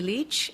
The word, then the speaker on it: Lich: Bible please foreign State your full name and spell it out Leach l-i-c-h do you swear that the evidence to